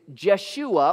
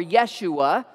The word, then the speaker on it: Yeshua: interesting about this name we say it jesus in english but in hebrew it's jeshua or yeshua you can pronounce it either way and jeshua literally means